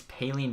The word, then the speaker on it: Paline: Martinick for them, Poline for us. Or Paline. People are saying I was saying his name wrong. I think I did it 4 times already this episode. It's Paline, not Poline.